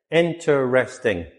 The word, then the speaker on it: interesting: Interesting. Not four syllables, three syllables. Interesting.